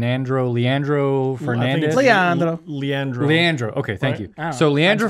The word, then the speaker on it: Leandro: know how to say his first name correctly leonardo lean andro leandro fernandez leondro leandro leandro okay thank you so leandra fernandez the good